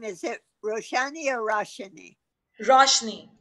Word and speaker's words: Roshani: Roshni. It's spelled out with an A, just like the book Meher Roshni. Roshni. ROSHANI. Yeah. But pronunciation wise, it's just Roshni.